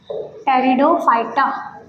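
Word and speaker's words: Pteridophyta: व कंपलीट हो जाएगी टेरिडोफाइटा या टेरिडोफाइट्स हम इनको बोल सते पी साइलेंट होता है इनको हम बोलते हैं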